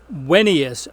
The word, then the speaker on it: Venus: both vowel and consonant the consonant form was originally pronounced like our W so let's take a look at the inscription on this Roman funeral stale it was dedicated to a man named Marcus Venus Rufus wenus Rufus as they said it in